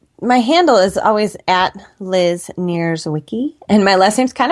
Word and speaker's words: Nierzwicki: oh absolutely my my handle is always Liz near Wiki and my last name's kind of hard so I'll spell it it's n i e r z is